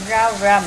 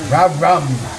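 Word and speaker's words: rau răm: put some of our, how do you say it again, Cham Cham? Rau rum. Rau rum. Sounds like from that movie, Red Rum, Red Rum.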